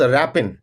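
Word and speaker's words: wrapping: डैड एज आई वाज रैपिंग रैपिंग में भी W underline है ये साइलेंट है आई सॉ अ बटरफ्लाई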